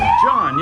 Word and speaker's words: John: Am I saying it correctly? John, yes. John, like.